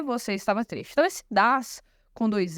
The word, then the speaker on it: dass: muito importante é que não há diferença na pronúncia tá tudo das igual como essa com dois s então na escrita tem diferença mas na fala né A gente só vai saber a diferença entre eles pela pela contexto mesmo né porque a pronúncia vai ser igual Tá e agora eu